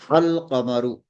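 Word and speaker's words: القمر: The letter lam is pronounced in the haruful qamariya. The lam of alif lam is pronounced. The pronunciation is al-qamaru.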